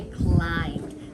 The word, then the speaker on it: climbed: climbed right we say climbed so we're not going to say the b sound at all that b is a a silent letter and the d kind